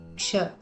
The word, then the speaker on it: क्ष: The first letter is Ksha. Ksha is derived from adding the sounds K and Sh. The sound of Sh is pronounced as Ksha, like the Ksha in the word Lakshmi.